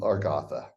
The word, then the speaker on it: Agartha: a good contrast to our gotha like Arthur there we go you